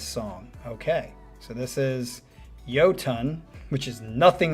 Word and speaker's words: Iotunn: First off, the band is pronounced Iotunn. Oh, really? I never would have guessed that. Like you are saying hello to something that weighs 2,000 pounds.